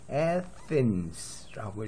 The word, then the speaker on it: Athens: 그래서 요거는 Athens라고 읽어야 돼요. 여기에 액센트가 와요. 스트레스가. 그래서 Athens, 우리가 아테네는 Athens. 근데 아테나 여신은 Athena, 그죠? 이렇게 읽어야 돼요. Athena, Athens. 영어로는 발음이 완전히 다르죠.